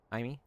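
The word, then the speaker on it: Jaime: Haimey. Haimey. Is it Hammy? Haimey. It's Jamie. Haimey. It's Haimey Reyes. Yeah. Haimey. Thank you. Jamie. It's okay. It's spelled Jamie, but it's pronounced Haimey, right?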